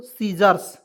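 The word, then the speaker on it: scissors: अब देखिए यहाँ पे एस सी आई, देखिएगा एस सी I double S ओ आर एस, क्या पढ़ेंगे दोस्तों, सीजर्स। कैसे पढ़ेंगे, सीजर्स कैसे पढ़ेंगे, इसको समझिएगा। तो एस से होता है स लिखेंगे, ठीक है। यहाँ पे सी को काटेंगे और आई का प्रयोग करेंगे,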